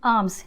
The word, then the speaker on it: alms: अगले वर्ड पे आते हैं, दैट इज़ आर्म्स। याद रखिए ये आर्म्स है, ALMS, इसमें L साइलेंट है, ये आर्म्स ARMS वाला आर्म्स नहीं है।